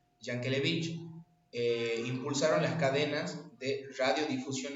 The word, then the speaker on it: Yankelevich: Empresarios como Jaime Yankelevich, creo que así se pronuncia, Yankelevich, impulsaron las cadenas de radiodifusión nacionales, permitiendo que la música llegue, bueno, a todo el territorio argentino.